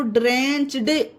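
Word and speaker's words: drenched: अब इसमें अगर हम ED जोड़ेंगे तो ड्रेंच्ड, डी नहीं होगा, इसका उच्चारण ही पूरा बदल जाएगा, इसका उच्चारण हो जाएगा ड्रेंच्ड। टा बन गया ना, डी का टा बन गया, इसमें DRENCH, ED जुड़ा ना फ्रेंड्स, तो ड्रेंच्ड हो गया।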